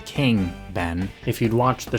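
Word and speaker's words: Kueng: Officers J. Alexander Kung and Thomas Lane. That's J. Alexander King.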